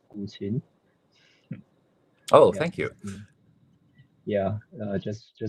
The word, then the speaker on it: guqin: So the pronunciation of that word is Guqin.